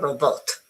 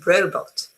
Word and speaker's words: robot: and the robot okay it's not a robot it's robot because the stress again is here on the first syllable.